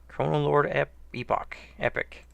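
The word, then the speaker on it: Chronolord Epoch: And one last trash group until the next boss, Chronolord Epic. Both pronunciations are acceptable.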